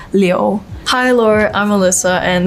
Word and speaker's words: Liu: And then my last name, the correct Chinese pronunciation is Liu.